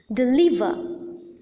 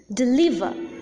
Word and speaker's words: deliver: There are three syllables, and the middle syllable or the second syllable is the most prominent syllable, and hence the second or the middle syllable is the stressed syllable in these two words.